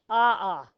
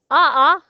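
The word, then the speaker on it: ʻaʻā: like taffy and then ah is like pointy and if you were to run across it in your bare feet you would say ah ah right a is what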